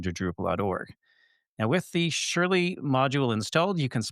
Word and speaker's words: Shurly: It's called Shurly, that's spelled Shurly, Surely and you're is not serious.